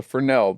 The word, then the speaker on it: Fresnel: And there's a theater instrument is called a Fresnel, right? It's called a Fresnel. That's what a certain Yeah. type of light is called. Sure. But it is spelled Fresnel.